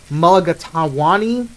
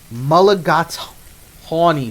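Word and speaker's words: mulligatawny: The English Mulligatawani No, I'm I'm mispronouncing that. Malagatonyi soup.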